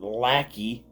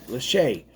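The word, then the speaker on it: Lachey: Leach Nostal Critic, not Lackey. The hell you pronounce her name? Lache, you know, like Nichollet.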